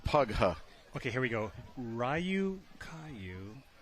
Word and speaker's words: Ryukyu: okay here we go rayu Caillou is the proper way to pronounce thank you Eric C